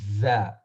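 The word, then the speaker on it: ز: This one is just regular za, like a Z sound.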